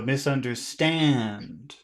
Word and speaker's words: misunderstand: I've got misunderstand the where do you see that Mark in front of which syllable do you see that that apostrophe stand that's right so misunderstand misunderstand okay the little commas